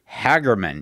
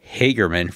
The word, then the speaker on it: Hagerman: pronouncing it correctly, that the locals call it Hagerman, even though I maintain it is spelled Hagerman. Anyway, it means that I have to rewire my brain after pronouncing it Hagerman for more than 20 years.